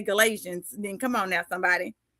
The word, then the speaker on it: Galatians: Galatians.